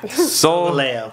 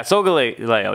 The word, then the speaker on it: Solgaleo: Solgaleo. Yeah, Solgaleo.